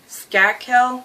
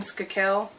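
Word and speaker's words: Skakel: 17 year old Tommy scat kill I think it's how you say his name skoo kill the nephew of senator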